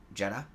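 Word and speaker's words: Jeddah: how you say it jedha you did yeah oh I got it right I thought I was going to ruin it that's that's the English version but yeah you I mean you said it for the most part you said it right set on the banks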